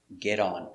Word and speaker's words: get on: So remember, get on, pronunciation, get on with a D.